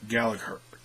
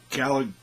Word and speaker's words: Gallagher: In fact, both these guys probably, Aria Davari and Jack Gallagher. I always mispronounce. They always say Gallagher. They take out the G, and that's not typical of how you say that word.